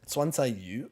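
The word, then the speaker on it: 酸菜鱼: So was it swansayu? I think is the correct. I don't know. Swansayu, yeah. Yeah, that's how you pronounce it.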